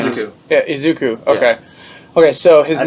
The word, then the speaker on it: Izuku: Yeah, Izuku. Okay, okay. So his I name.